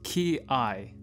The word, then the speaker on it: kiai: start off with some definitions the technique is pronounced key i and literally translates to yell in english and